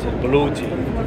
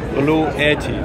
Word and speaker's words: Bluetti: Star again yes b-l-u-e-t-t-i in headquarter we use to call it blue tea okay but in the way of the western pronunciation the people naturally say blue edgy okay so many customers